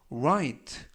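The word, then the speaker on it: write: 라고 발음 하시면 되겠구요 맨앞에 있는 w 는 이번 단어에서 묵음 이라서 발음이 되지 않습니다 그래서 와이트 r 발음에 유의 하셔서 와 인 트 라고 발음 하시면 되겠고요 품사는 동사 뜻은 글씨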